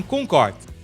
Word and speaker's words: Concorde: Os ingleses preferem eliminar a última letra e falar em Concorde.